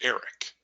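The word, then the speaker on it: Erich: may not know Eric my version of Eric is spelled with an H on the end it's a German spelling my my parents were German and but it's pronounced Eric Eric's one of those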